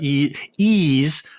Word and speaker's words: Ys: During the cast, you kept pronouncing it with a yee as in yeehaw, and it's more of an ease as in ease of use.